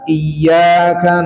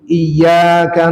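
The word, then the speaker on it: إياك: Iya bukan iyaka na'budu. Iyyaka na'budu.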